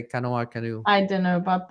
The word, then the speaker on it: CNOE: native operational excellence uh is the term is Cano I pronounce it Cano so I don't know